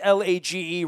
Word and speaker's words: Lage: follow him at Larry lage that's laage rhymes with page engage out on Twitter